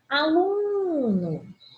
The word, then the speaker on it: aluno: Aluno é uma paroxítona. Penúltima sílaba tônica, coluna do meio, tá?